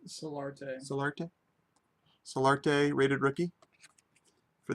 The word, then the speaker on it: Solarte: Soarte? Solarte.